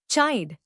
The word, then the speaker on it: chide: चाइड. नया लफ्ज चाइड. इसको तोड़ते हैं चाइड. जोर चाइड पर है. CHIDE. चाइड to scold in anger.